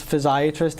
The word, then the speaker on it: physiatrist: Very often people may get confused with physiatrists with other medical specialties such as podiatrist or psychiatrist. Right. In some parts of the country, people actually pronounce physiatrist as physiatrist.